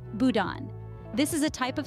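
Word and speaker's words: boudin: beliefs then we have Budin pronounced Budan this is a type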